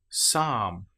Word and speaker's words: psalm: Psychology psalm. Here we don't pronounce the P at all.